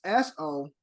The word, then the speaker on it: sophomore: extra e right it's s-o-p-h-o-m-o-r-e there's an extra oh those sons of sophomore then why is it in it the O is silent Kev why is that